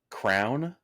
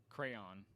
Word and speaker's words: crayon: So I say crown, like almost like a crown that you put on your head. Yeah. How do you say it? Crayon.